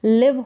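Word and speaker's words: live: रहने के लिए इस एल आईवी का उच्चारण लिव होगा क्या होगा लिव यानी रहना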